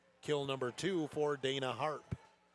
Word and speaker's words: Harpe: Kill number two for Dana Harp. It's spelled H A R P E, but HARP.